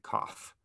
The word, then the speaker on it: coth: tange of x and we actually say cough coth of x there so we're going to